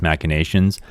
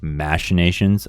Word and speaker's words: Machinations: We also have Xerosic's Machinations. The other pronunciation is Machinations, American or British, doesn't matter.